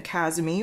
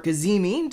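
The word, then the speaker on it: cazimi: This is a conjunction, a kazimi or a kazimi, depending on how you want to pronounce it.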